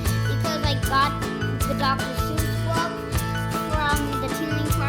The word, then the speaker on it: Seuss: important thing that dr seuss says i like nonsense it wakes up the brain cells fun fact seuss is supposed to rhyme with voice not goose but doctor never minded